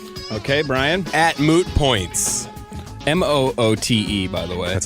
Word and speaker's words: Moote: Moote, by the way. That's how you spell that. That's right. The E is silent.